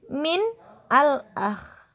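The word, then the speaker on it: من الأخ: Min al-akh, maka menghidupkan nunnya. Min al-akh, cara bacanya minal akh.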